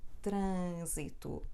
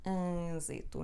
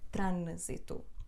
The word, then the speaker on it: trânsito: exemplo não nunca ninguém mas este ano é só um sinal da nasalidade de letra A portanto isto na verdade é pronunciado assim trânsito trânsito Não é trânsito portanto Isto é o